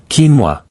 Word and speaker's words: quinoa: But actually, quinoa, pronounced quinoa, is a grain that has been present